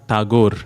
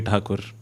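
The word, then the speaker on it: Tagore: his name itself is there are controversies to pronounce this rabindran tagor as the rest of the country knows but Robi takur as bengali's know it know him uh so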